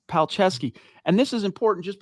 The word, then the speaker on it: Palczewski: And I not while we're live, but I'm pretty sure it's Palczewski.